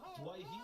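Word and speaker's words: Doueihi: Adam from the West Tigers now would like to be pronounced as Dwayhe, and I'm sure the Lebanese community are happy with that. We respected his wishes when he wanted to be known as Dewey, but now Dwayhe it is at the cup.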